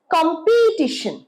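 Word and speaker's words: competition: আরেকটা দেখো, কম্পিটিশন। তাহলে স্ট্রেসটা পড়ছে কমে। যদি আমি পি তে স্ট্রেসটা দিই, কি হবে? কম্পিটিশন, কম্পিটিশন।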